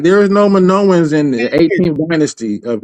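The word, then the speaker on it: Minoans: Manowans. Yeah, I'm saying it right. Manoan.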